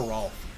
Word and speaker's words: Rolf: talking about Rolf. Who's Rolf? Ralph. Pretty sure they say his name was Rolf though in Ed, Edd n Eddy. Did they say it's Yeah. Ralph or Rolf?